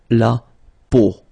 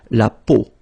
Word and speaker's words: peau: will have to pronounce when you've got these three vowels combined together, it's the sound O, okay, so really simple, O, okay, so you get la peau, okay, la peau.